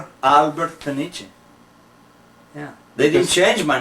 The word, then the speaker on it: Peniche: So I corrected, I said, Alberto Peniche. I said, Peniche.